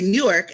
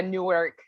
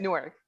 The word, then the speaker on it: Newark: to newark delaware but i used to say new york and they're like that's not how you say it here yeah they say it differently that's funny because we got a newark down the road from